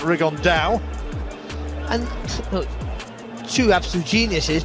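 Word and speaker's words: Rigondeaux: about fighting rigond though or as he's correctly pronounced with the uh the Spanish accent rig on Dao and oh two absolute Geniuses but it could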